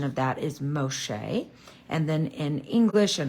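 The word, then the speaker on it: משה: egyp name which is Mos and the Hebrew pronunciation of that is Moshe and then in English and our Bible we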